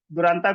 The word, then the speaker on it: Duranta: Bengali middle class family से belong करता हूँ, तो एक्चुअली प्रोनाउंसिएशन इसको बोलते हैं दुरंतो कहा जाता है। जैसे कि ममता दीदी अपना दुरंतो एक्सप्रेस चलाती है, या मतलब एक ट्रेन है यहाँ पे, ऐसी सेम नाम मेरा दुरंतो है।